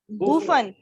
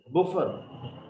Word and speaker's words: buffoon: सर आपने ये blue blooded के बाद जो पढ़ा है, इसकी प्रोनाउंसिएशन मुझे थोड़ा Buffon. प्रॉब्लम हो रहा है. बूफन. Buffon.